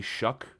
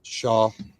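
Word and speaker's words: Shough: The way that the broadcasts, by the way, when I say Shuck, that that's how they pronounce it. So, I don't know. I don't understand it. Shaw. No, I know that's how the spelling is, but I've heard Ian Rapaort, Daniel Jeremiah say it's Tyler Shuck.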